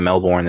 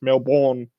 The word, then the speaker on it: Melbourne: that they can only ever say it as male born you watch Jason porn once and your fingers pronounce it so it's a Melbourne it's Melbourne alright I I will not forget that now